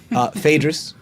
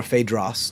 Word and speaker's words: Phaedrus: Phaedrus, or Phaedros, depending on your dialect. Phaidros.